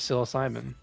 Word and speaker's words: psilocybin: philosin too and the answer is psilocybin all right everyone gets two points is a silent P I don't